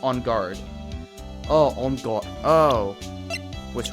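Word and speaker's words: Engarde: Also, his name isn't pronounced Ongarde, it's just On Guard.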